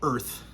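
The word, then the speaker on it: Urth: a coda it's called it's called earth but it's spelled u r t h uh and i believe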